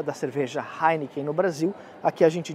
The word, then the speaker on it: Heineken: uma por qu porque o H em italiano é mudo então a pronúncia da cerveja Heineken no Brasil aqui a